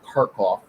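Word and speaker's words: Kharkov: called the battle of karkov one two and three but that name is slightly misleading because that's the russian pronounce pronouncing of that city's name um although to be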